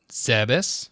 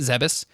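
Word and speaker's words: Zebes: i'm into it so thanks matt for the correction on how to pronounce planet serbis right yeah planet zebus and uh on the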